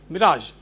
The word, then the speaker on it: mirage: Mirage.